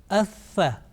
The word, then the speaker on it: ث: Atha, atha, atha, atha, Secondly, you may have noticed that air will escape if you pronounce it correctly. If you are making a difference between Seen and Thaa, air would come out, would escape.